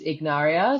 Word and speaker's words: Ignaria: It is, am I pronouncing this right? No, no. Ignaria So just, Wellness? yeah, just to go totally rogue. So yes, I also have a chosen name and that is Ignaria.